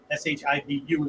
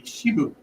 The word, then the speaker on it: Shibu: It was a Shibu, S-H-I-B-U as we would spell it in English, right?